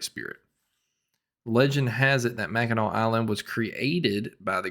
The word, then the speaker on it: Mackinac: So I was pronouncing it Mackinac, but I was corrected on my enunciation and pronunciation of that. It's Mackinac.